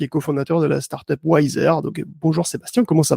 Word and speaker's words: YZR: Donc Wiser, oui, Wiser qui se prononce donc Wiser comme, bon, plus sage en anglais, Ouais.